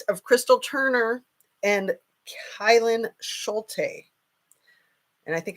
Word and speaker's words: Schulte: Crystal Turner and kylan Schulte and I think I said her name wrong yesterday kylan Schultz I think is what I said so you guys might